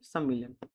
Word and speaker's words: सम्मिलन: याद रखना, ग्राम सभा के लिए हमें हमेशा सम्मीलन यूज करना है। कभी कभी से बोलते बोलते उसका उच्चारण या प्रोनाउंसिएशन जो है मैं अगर सम्मेलन कर दूं तो उसमें कंफ्यूज मत होना।